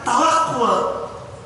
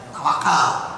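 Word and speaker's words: تَوَكُّل: Tetapi ini diimbangkan antara kasar, antara ikhtiar dengan penyerahan total kepada Allah, namanya tawakul. Kita menyebutnya tawakal, padahal kalau diikuti bacanya tawakulan, tawakul kan, tafa'ala ya tafa'ulan, tawakul.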